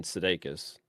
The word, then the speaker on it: Sudeikis: Goes to the store to get some stuff, runs into her old childhood quote unquote friend, Oscar, played by Jason Sudeikis.